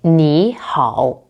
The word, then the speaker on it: 你好: For example, 你好 is written as 你好, but when 2/3 tones appear together, the first one changes. So it sounds like 你好.